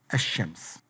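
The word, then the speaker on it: الشمس: read the word yeah this l is not pronounced this lamb is not pronounced like for example shems when you put alif lam before it it becomes hashems and in many cases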